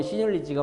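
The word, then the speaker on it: seigniorage: 이제 한국 외래어로는 세늉리지고요. 영어로는 시늉리지가 맞습니다. 그대로 말하면 시늉리지입니다. 영어 발음으로 하면.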